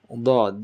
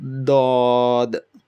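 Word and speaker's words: ضاد: So what you do is, if this is your tongue, left side and right side, so either touch the left side of your tongue to the left gum, or the right side of your tongue to the right gum adjacent to it, and hold on to it and try to make a mumbling, forcibly, forceful sound.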